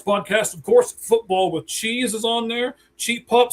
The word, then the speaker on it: Cheez: Cheez, like cheese, it's spelled like that.